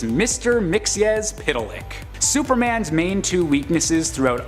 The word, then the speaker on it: Mxyzptlk: At our top spot on this list is the character I've been looking forward to pronouncing this entire video. It's Mr. Mxyzptlk.